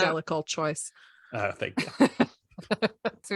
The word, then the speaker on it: Jellicle: No, it's pronounced Jellicle choice.